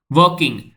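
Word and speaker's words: walking: वॉकिंग वॉकिंग में L silent है बस वकिंग।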